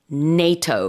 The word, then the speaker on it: NATO: But in English, you pronounce it with a long A.